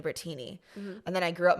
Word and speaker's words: Brittini: like you know what my name is actually phonetically brittini so I'm just going to call myself bertini I love it and